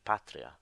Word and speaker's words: patria: if the second last syllable is short then the accent falls on the syllable before as in the word - patria so really the accent